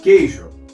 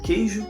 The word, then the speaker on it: queijo: exemplo vamos botar aqui queijo por exemplo queijo queijo eu falo queijo ou queijo óbvio né eu falo queijo Seria a mesma coisa que não houvesse esse esse U aqui é a mesma coisa